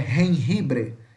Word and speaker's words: jengibre: E temos o gengibre, que em espanhol é escrito com J, com J, que é jengibre, que é som de R.